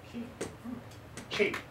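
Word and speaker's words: Qing: Chinese has two separate how do you spell that q i n g is the p is i n q u n g q i n g no you q i n ching ching ching ching ching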